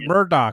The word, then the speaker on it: Murdaugh: So it's Murdaugh.